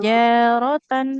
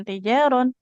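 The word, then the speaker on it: تجارة: an takuna tijaron hadiratan tijaratan bukan tijaron satu huruf ketinggalan i takuna tijaratan hadiratanirunaha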